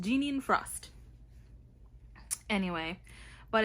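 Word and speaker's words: Jeaniene: All right, according to Google, her name is pronounced Jeanine Frost.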